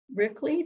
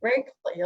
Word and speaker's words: Rickley: And her husband has volunteered to be our new secretary, and his name is Robert Rickley. Did I say it right? Rakely? Yeah. Rakely, okay.